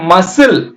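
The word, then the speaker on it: muscle: முடியுது சிசர்ஸ் இது பாருங்க மசில் மசில்ஸ் அப்படின்னு சொல்லுவாங்களா மசில் தசை தசை எம் யூ யூ க்கு ஆ சத்தம் மா இஸ் இல் அவ்வளவுதான் இ சைலெண்ட் இங்கயும் சைலெண்ட் இந்த சி சைலென்ட் மசில் இங்க என்ன தலைப்போ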